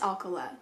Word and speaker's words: Alcala: apologize for that but i believe it's alkala rodney alcala was born